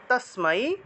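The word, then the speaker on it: তস্মৈ: সুর তারপরে আসুরগণা দেওয়ায় তসমাই তসমাই নমহ তসমাই এটা উচ্চারণ হবে তাসমাই তারপরে নমহ বিসর্গ থাকায়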